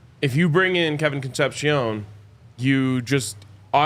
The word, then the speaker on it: Concepcion: Next, Kevin Concepcion. We talked about him yesterday. He's, name. I think, the top-ranked wide receiver in the portal right now, if not one of them. And it is pronounced Concepcion.